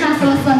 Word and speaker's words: nasılsın: Di tulisannya itu kalau di Indonesia nasilsin, tapi kalau di Turki I itu ada dua. Jadi I yang ada titiknya sama I yang nggak ada titiknya. Kalau nasılsın kan dibacanya itu I nggak ada titiknya, dibacanya nasılsın, artinya apa kabar.